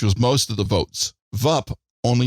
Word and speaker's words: Vup: VUP, Vup.